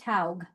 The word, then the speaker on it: Haug: My last name is pronounced Haug. Haug. Okay. Where did I see? I saw I, Haig somewhere.